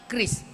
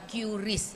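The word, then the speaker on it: QRIS: melalui ekosistem pembayaran khususnya Kris ya, Bapak, Ibu bacanya Kris ya, bukan curis ya. Karena kalau kita ngomong itu bukan curis dayanti tetapi Kris Dayanti. Jadi ngomongnya Kris ya.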